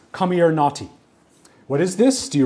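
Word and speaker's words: Comirnaty: names see for example what I assume is pronounced as come or naughty what is this do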